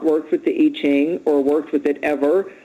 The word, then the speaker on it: I Ching: up differently just YouTube simple three coin eing i c h i n g yeah yeah it looks like I Ching but they pronounce it iching you learn that too when